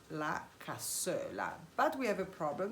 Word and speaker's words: Cassoeula: of the Milanese cuisine, and it's called la Cassoeula. But we have a problem because Nazim cannot pronounce this name.